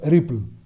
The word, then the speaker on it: RPL: So this is the so-called RPL protocol, which however is pronounced Ripple, the routing protocol for low power and lossy networks.